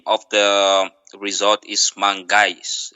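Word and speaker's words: Mangais: of the resort is Mangis. Am I saying it right, Antonio? Absolutely. M A N G A I S. Mangish.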